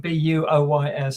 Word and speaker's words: buoy: So We should explain that's boys as in BUOYS, Yeah. not some poor kid. as a marine boy, Some poor kid in a rowboat. Yeah. Yes. You see, you Americans are sensible because you pronounce it buoy.